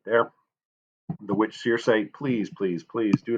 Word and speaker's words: Circe: This is Circe, is how you say this one right here.